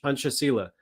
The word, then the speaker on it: Pancasila: I believe the C is pronounced as a CH, Pancasila.